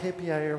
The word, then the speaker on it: hAPIer: It looks good written down, but I was not sure how to pronounce that. Okay, and full screen. This should be good. Okay, so making your life happier with Django.